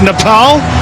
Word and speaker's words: Nepal: It is Nepal. That's how they say it locally.